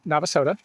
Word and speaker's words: Navasota: And they did point out, one, that it is pronounced Navasota.